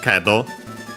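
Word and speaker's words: けど: Yeah, so you is needed, but yeah, because after it we have kedo, but however, accent on the ke, the first mora.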